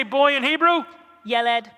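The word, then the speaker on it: ילד: say boy in hebrew yelled what does yelid mean in english boy and how do we remember that i yelled at the boy i yelled at my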